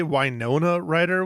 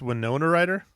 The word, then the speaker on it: Winona Ryder: them out hold on did you say wona writer when it's Winona writer wona writer right sure